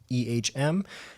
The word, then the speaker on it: Ehm: Instagram at dot ehm he is an Evan H as in Harold M as in Mary pronounced just like the letter M reach out to me